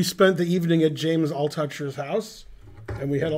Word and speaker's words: Altucher: James Altucher, that's how you pronounce his name, yeah.